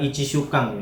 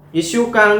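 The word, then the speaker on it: 一週間: Oke, Ishukang ini dibacanya Ishukang ya, bukan Ichishukang ya.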